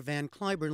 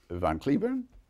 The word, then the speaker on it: Van Cliburn: So all the time I was there, I never told them that in this country we pronounce it Van Cliburn. So I have two names, Van Cliburn and Van Cliburn.